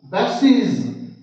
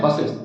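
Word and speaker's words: buses: मी रसिस races okay बस बसेज बसेज बसेज और हम लोग सीधे पढ़ते हैं बसेस ऐसा नहीं है इसके बाद है एक्स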